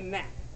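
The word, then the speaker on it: knap: We need to generate a nap. The nap is spelled K-N-A-P, and just as that young gentleman is demonstrating, it is the sound of flesh on flesh contact.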